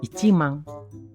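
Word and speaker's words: 一万: Cara bacanya ini simple. Nomor angkanya baca, tambah 10.000-nya. Ichimang.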